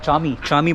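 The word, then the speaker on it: Camii: में खड़ा हुआ हूं चामीरी बोलते हैं यहां पर सी ए एम आई आई लिखा हुआ है सी इज प्रोनाउंसड एज च तो इंफॉर्मेशन सेंटर को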